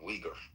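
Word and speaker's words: Uyghur: Calling them wiggers is funny, but it's like what is a wigger? Can someone explain to me what a wigger is? Sorry, I pronounced it wrong. Weaguer.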